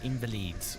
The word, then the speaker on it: Invalides: St Germain near L invalides what could he uh invalid the S is silent what could he possibly